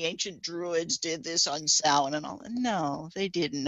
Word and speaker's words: Samhain: The notion that, well, of course, Samhain being the pronounced Samhain, which people perpetually mispronounce as Samhain, but was the Celtic holiday that the Catholic Church probably co-opted to create Halloween and All Saints Day.